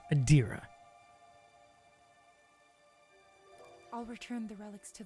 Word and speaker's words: Adira: would be adir adira see I keep pronouncing her wrong adira I'll return the relics